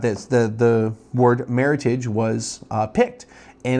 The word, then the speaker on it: Meritage: say Meritage nobody says Meritage but about the wine oh it's Meritage because it's French no it's not French it's an American made up word um anyway sorry got